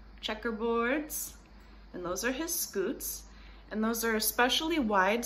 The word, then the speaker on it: scutes: You can also remember that the belly scales are called scutes because they're cute, and cute rhymes with scoot, and look how cute he is.